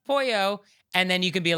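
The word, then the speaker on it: pollo: So, I'm like, I order the polo and then you're like, "Oh, it's pronounced pouyo."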